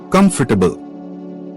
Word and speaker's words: comfortable: Comfortable. The middle or is not clearly spoken. It sounds like comfortable.